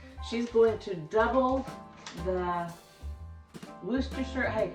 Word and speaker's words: Worcestershire: She's going to double the Worcestershire. Hey, how do you say that, by the way? Worcestershire.